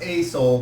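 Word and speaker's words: Aesol: far as you're concerned a-e-s-o-l it is pronounced a soul but no it is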